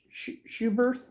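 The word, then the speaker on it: Schuberth: I was using a Bitwell lane splitter, and this is how you pronounce it, Schubert, German-made helmet.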